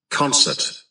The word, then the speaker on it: concert: buổi hòa nhạc concert concert là một danh từ trọ trọ âm nhất này final final là